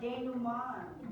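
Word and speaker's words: dénouement: It's Denourement. And like I said, it is French, so it's pronounced denouement.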